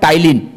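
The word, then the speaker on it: ptyalin: मुंह में जब हम चबाने लगते हैं तो एक रस छूटता है, that's called टाइलिन। टाइलिन, PTYLINE, PTYLINE, टाइलिन। टाइलिन में पी साइलेंट होगा।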